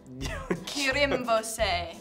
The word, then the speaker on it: Kirimvose: Kirimvose. It says with a rolled R. Kirimvose.